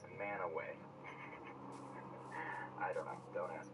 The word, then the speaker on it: Mantua: Normal person might say Mantua, right? Wrong. Mantua. Utahns are super weird, and they pronounce that word right there as Manaway.